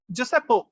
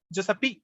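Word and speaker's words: Giuseppe: அப்ப வந்து இந்த பெண் தப்பிக்கிறதுக்கு வந்து யாரு உதவி பண்றா அப்படின்னு சொன்னா ஜோசப்போ, அதாவது இந்த இடத்துல GIU, அது வந்து ஜேர்னு ப்ரொனவுன்ஸ் பண்ணுங்க. ஜோசப், அதான் இட்டாலியன்ல ஜோசப் தான் அவங்க அப்படி சொல்றாங்க. ஜோசப்பி, ஓகேவா?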